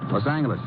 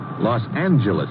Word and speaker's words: Los Angeles: moved out to California Los Angeles correction Los Angeles oh yeah soft G it's official now so